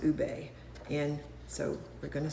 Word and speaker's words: ube: It's spelled u be, but it's pronounced ube.